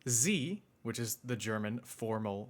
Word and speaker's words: Sie: When saying "Sie", which is the German formal version of saying you, he sharpens the S sound, when normally it sounds more like Z, z, unless you're from Switzerland or Austria.